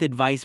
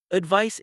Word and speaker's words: advice: Advice ends with an s sound while advise ends with a z sound.